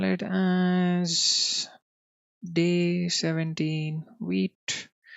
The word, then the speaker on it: Vite: over here let's call it as day 17 wheat v i t e pronounced as wheat it is French for being fast or quick